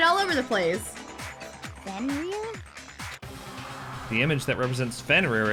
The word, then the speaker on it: Fenrir: So it's officially pronounced Fenrir.